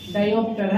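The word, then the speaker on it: diopter: क की मात्रा है, न कि ख की मात्रा। इंग्लिश में देख लीजिए ना क्या है, डायोप्टर है ना।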